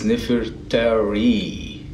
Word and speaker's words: Nefertari: It's Nefertari.